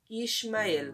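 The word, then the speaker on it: ישמעאל: de hoje em Israel em hebraico quer dizer Deus escuta e é pronunciado como ishmael on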